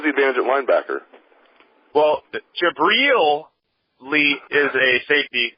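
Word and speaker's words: Jabrill: Ben Gideon jabriel Peppers I'm finally pronouncing his first name right I was always called him jabil but Michigan people call him jabel so I finally have it right it's jabriel Peppers um and Mike McCrae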